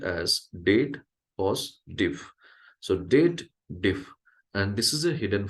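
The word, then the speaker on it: DATEDIF: People does a wrong pronunciation. They believe there is a if statement or a clause or logical formula is added and they should read it as dated if.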